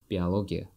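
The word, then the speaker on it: биология: the University so our first subject is biology Biologia bio logia and sometimes people pronounce it as vialogia instead of o in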